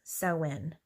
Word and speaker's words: Samhain: They believe, or Samhain is how it's spelled, but it's Samhain.